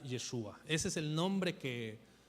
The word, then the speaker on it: Yeshua: Pero bueno, normalmente lo más común es que se le nombrara así Yeshua, no Yahshua, por cierto.